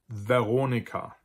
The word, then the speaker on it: Veronica: as French, especially French, it is almost always pronounced like a V sound, just as it would be in French or in Italian, or what we think Latin used to be pronounced like. And that's regardless of where the V is located. So for instance, we have words like die Vitrine, die Veranda. We have personal names like Veronica, Valentin.